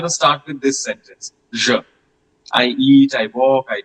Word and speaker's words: je: So the first person singular is je. Je. Try to pay attention to the pronunciation. It's not je or je. People at times, pronounce like that. Je or je. It's not like that. It's je. Je.